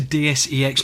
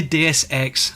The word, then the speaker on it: Deus Ex: deus ex and then he goes on to dsex no it's definitely deus ex as in deus ex machina so he's i think